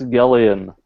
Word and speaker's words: Evangelion: Evangelion. Hold on. What the hell is that? It's not how you say it. It's Gellion.